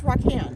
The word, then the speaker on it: Raquan: pronounced your name? It's Raquan. Raquan.